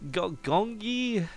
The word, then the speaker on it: Gyeonggi: am am Korean qualifier I can't tell you how to pronounce the name of it it's gongying gongi yongi gongi gong girl I don't know g y o no sorry G ye e o n GGI so gongi it's probably the closest I'm going